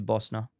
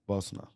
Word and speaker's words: Bosna: just take the eye out so it' be Bosna Bosna yeah and what about heroina yeah you got